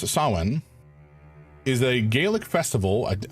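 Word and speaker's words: Samhain: Uh ah Sam Hayne not pronounced like that approximately pronounced as sawen is a Gaelic festival.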